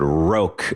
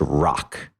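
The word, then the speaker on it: Roque: uh well it would I think I pronounced in the episode roke uh but it's it's at properly pronounced Rock r-o-q-u-e uh okay rock Bluffs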